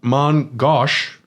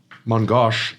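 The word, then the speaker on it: main-gauche: yep um yes the Mong Goos mongos is how you say it in French is a type of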